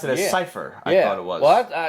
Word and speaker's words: Seifer: So, I always pronounce it as Cypher.